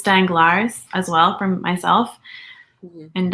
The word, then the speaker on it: Danglars: I just said it's Danglars as well from myself. And I think it's Danglars. I don't think you pronounced the S.